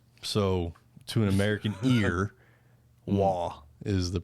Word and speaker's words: Roy: Patrick Roy. No, it's Waugh. Really? Mm-hmm. It's French Canadian, man. It's actually if you were to roll the R, that would be the correct pronunciation of it, but I can't do that.